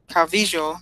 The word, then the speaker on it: Calvillo: Cynthia Calvillo, excuse me, there you go. You got to pronounce it with the J.